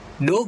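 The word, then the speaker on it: ∂: Nah, ini contoh persamaannya, di mana persamaan eksak atau dikatakan eksak jika ini simbol ini teman-teman dibacanya do ya.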